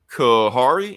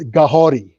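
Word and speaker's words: Kahhori: Kahari, am I saying the name right? Kahori. Okay, it's Mohawk. So the Mohawk language, they pronounce their K's like G's, and their R's like D's. So it's Kahori.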